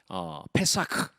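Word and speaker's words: פסח: 절기가 오늘 성경에 나오는 유월절 입니다 회사가 라고 발음을 하는데요 어떤 조사에 의하면 99%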